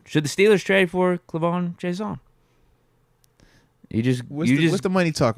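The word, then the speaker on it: K'Lavon: How do you say his first name? It's like K. Levon, right? Clavon? Yeah. Clavon. Like Clavon Chason.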